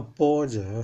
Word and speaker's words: 般若: 错了哈，般若念作般若是妙智慧的意思，他印成那个波浪的波了，所以念出来有错了。